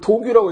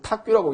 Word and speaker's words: 탁규: 그래서 탁으로 쓰였을 때 용례는 많지 않은데 예를 들자면 뭐 탁규 이런 단어들은 도금 문제도 잘 나오네요. 뭔가 잘 헤아리는 거를 탁규라 그래요. 요거를 도규라고 읽지 않고 탁규라고 읽습니다.